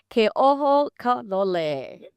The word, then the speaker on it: Keohokalole: Koho Kole.